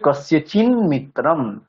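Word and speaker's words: কস্যচিন্মিত্রম্: মকার উচ্চারণ করলাম কিন্তু যদি একসাথে বলতে চাই তাহলে এখানে কি উচ্চারণ হবে যেহেতু ন পরে আছে ন টা হচ্ছে ত বর্গের মধ্যে পড়ে ত বর্গের পঞ্চম বর্ণ উচ্চারণ হবে তাহলে মানে নই উচ্চারণ হবে আবার তাহলে কস্যচিন মিত্রান নকার উচ্চারণ হবে এখানে মিত্রান যদি একসাথে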